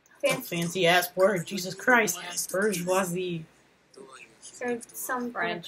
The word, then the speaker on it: bourgeoisie: Bourgeoisie. Fancy ass word. Jesus Christ. Bourgeoisie. Some French pronunciation.